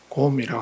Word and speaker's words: sgom: 티베트 사람들은 수행을 SGOM, 곰이라고 합니다. SGOM, 곰이라고 읽는데, 곰이라고 하는, 티베트 말로 곰이라고 하는 말은 익숙해진다는 것입니다.